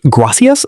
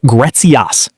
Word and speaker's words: gracias: Many learners pronounce gracias like gretzias. But natural pronunciation is softer. Gracias. Repeat after me. Gracias.